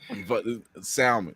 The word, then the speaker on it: salmon: But salmon. What? I think Brandy put a post up like that. Like if they pronounce the L in salmon.